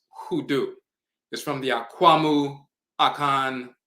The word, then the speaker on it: hoodoo: popularly by the aan term unu which is pronounced hudu is from the aamu aan dialect undu means